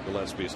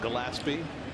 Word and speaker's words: Gillespie: last night mispronouncing Connor Gillespie's name. It looks like Gillespie. Yes. But it's Gillespie. You got to think Dizzy.